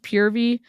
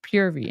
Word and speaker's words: Purvii: we're doing um we're watching pervy it's actually pronounced pvy but I really thought that as a public service announcement it would be really helpful to tell the internet that pervy is not pronounced pervy it's pronounced pvy and and PV is not for pervert so